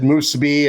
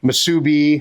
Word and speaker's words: musubi: I've said it but I've said musi and Musubi I believe it's Musubi but hey feel free to